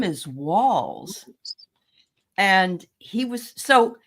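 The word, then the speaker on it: Walz: notice that he that Vance called Tim Tim Waltz like a waltz yeah his name is walls and he was so not only does Donald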